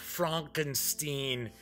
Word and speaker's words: Frankenstein: If it's EI, then it's pronounced Stein. If it's IE, then it's Steen. I was like, oh, yes, it's pronounced Frankenstein.